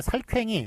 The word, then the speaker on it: 살쾡이: 자, 그다음에 살쾡이, 삭괭이가 있네요. 살쾡이라고 보통 많이 발음을 하니까 살쾡이를 맞게 했고요. 삭괭이는 되게 틀린 표기입니다.